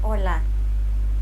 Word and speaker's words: hola: The letter H is silent in Spanish. Most people learning Spanish try to pronounce it when in fact it should be silent.